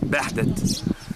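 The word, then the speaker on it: Behdet: Edfu, phonetically at the ancient time named Bahdet, B-E-H-D-E-T, Bahdet, the city of Bahdet.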